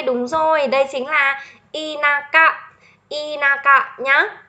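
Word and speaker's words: 田舎: Thực ra đây là một cách đọc đặc biệt đấy. Bình thường là chữ này phải đọc là ta đúng không? Ừ, này đọc là ta đấy.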